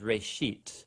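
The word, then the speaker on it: רֵאשִׁית: it's called genesis genesis comes from a hebrew word uh it's pronounced ray sheet and it just means beginning now there's a lot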